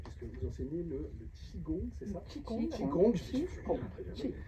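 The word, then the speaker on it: qigong: vous enseignez le le chigon c'est çaongong Q i g o N G ah I mais je vois comment ça s'écrit c'est juste pas le prononcer ça n'a rien à voir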